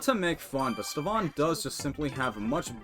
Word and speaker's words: Stevan: No, that's a V, so it's Stevan.